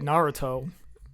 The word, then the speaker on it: Naruto: He said Naruto.